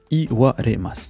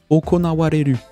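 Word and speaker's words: 行われる: Effectivement, c'est se dérouler, se passer, et ça se prononce okona, okonawareru, okona, oko.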